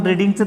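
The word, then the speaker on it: read: त्याच्यानंतर क्रियापदाचं तिसरूप वापरलं आपण, रीडिंगचं तिसरूप रेड. स्पेलिंग बदलत नाही पण उच्चार बदलतोय.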